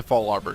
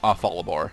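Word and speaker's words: Fallarbor: Alright, and in the next episode, we will successfully deliver Professor Cosmo back to Fall Arbor Town. Sweet. I know it's Fall Arbor Town, I've always pronounced it Fallabor.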